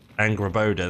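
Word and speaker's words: Angrboda: I forgot how to pronounce her name. At least Angraboda. It's fine. Angraboda, that's it.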